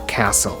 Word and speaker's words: castle: doubt, or debt, or the T in fasten, mortgage, or castle, or the L in